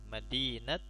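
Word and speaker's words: مدينة: Perhatikan Madinat Bogor. Seolah-olah taknya seperti tak, bukan tak marbutah. Tapi disukunkan seolah-olah ada tak yang terbuka, tak biasa.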